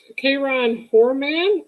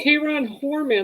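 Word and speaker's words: Kyron Horman: don't think it's labeled though case k ron k ron poor man oh k ron horman that's how it's pronounced is there any other cold cases do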